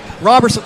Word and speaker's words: Robertson: Is it Robertson or Roberson? Robertson.